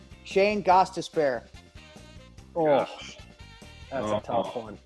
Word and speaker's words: Gostisbehere: Gostis be here. That's how it's spelled. Gostisbehere. Fair. Yeah, be here.